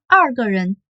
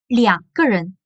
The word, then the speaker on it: 两个人: Et en chinois, on prononce pas 二. On dit pas 二个人, on dit 两个人.